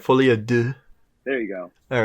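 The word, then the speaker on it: Folie à Deux: that it did we're reviewing this because Joker fly Ado is coming out I think it's part of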